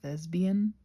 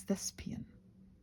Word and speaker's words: thespian: Did you know that thespian is spelled with a P? That bothers me because I hear thesesbian. Excuse me. But apparently it's thespian which is not really what I say.